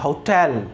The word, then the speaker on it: hotel: देखो HOTEL, कई लोग क्या कहते हैं ओटल बोल देते हैं, ओटल नहीं होता, इसका प्रोनाउंसिएशन होता है होटल, क्या होता है साउंड